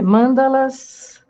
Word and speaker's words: mandala: nessa igreja tá as mandalas mas não se fala manda esse daqui é Mandala tudo bem a pronúncia